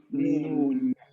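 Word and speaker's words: نون: Mim and noon. Noon. So we need the nose, but we don't move the nose when we pronounce that.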